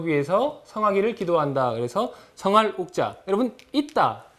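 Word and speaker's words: 郁: 그래서 성할 발음은 욱입니다. 성할 욱.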